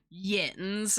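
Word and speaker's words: yinz: So it's like, So it's like, it's meant like YUNS or YOUUNS. But it's pronounced yins.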